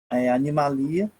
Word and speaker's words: Animalia: Lembrando que essa nomenclatura aqui é a nomenclatura do idioma latim, por isso essa nomenclatura aqui, e a gente se pronuncia sem acento, né? Animalia, que são o reino dos animais, que corresponde a todos os seres pluricelulares, eucariontes, né?